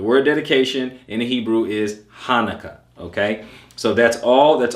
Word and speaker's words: Hanukkah: 98 okay so keep that in mind it's pronounced hanukkah okay dedication hanukkah same thing it is hanukkah